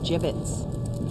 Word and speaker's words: gibbets: hey look Avery had some gibbets left over pronounced jibbets are you sure yeah